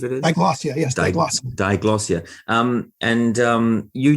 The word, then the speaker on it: diglossia: Let's wind back to something I think you mentioned at the very start, which is, I'm probably going to mispronounce it, diglossia, I believe it is. Diglossia, yes, diglossia.